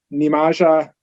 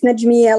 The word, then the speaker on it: Najmiya: i'll move to uh nimaja vusutaj new manager you may have pronounced it wrong hi my name is najmiya last name is i